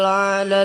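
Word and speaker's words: أعلى: A'la, pertamanya hamzah, keduanya ain. Jangan sabbih isma rabbikal a'la, jangan gitu.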